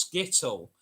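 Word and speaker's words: Skttl: sully and i um so skittle s-k-t-t-l s-k-t-t-l pronounced skittle is the tiny cat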